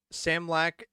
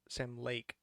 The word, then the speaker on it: Sam Lake: Um, Sam Lack did a black white Same with like voice. Sam Lake.